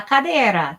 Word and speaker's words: cadera: one last one La Cadera that's the hip La Cadera La Cadera same thing we're making the d a nice soft noise remember in Spanish the